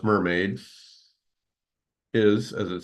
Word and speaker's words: MRMD: of the talk so mrmd which you may pronounce mermaid is as it says